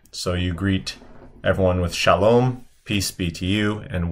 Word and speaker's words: shalom: So shalom, and this is a final mem. So shalom, shalom, with the accent being more on the end.